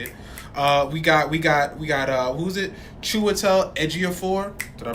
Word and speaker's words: Chiwetel Ejiofor: Chiwetel Ejiofor. Did I pronounce his name right? Chiwetel Ejiofor, yeah.